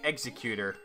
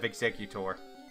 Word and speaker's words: Exeggutor: up I love people who say executor instead of exeggutor executor yeah exeggutor you know like how it be pronounced so learn sing already